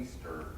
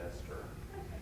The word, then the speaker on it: Easter: Yeah, there's a character in two of my books named Easter, and it's spelled E-A-S-T-E-R, but about half the people I talk to pronounce it Esther, which I've never understood.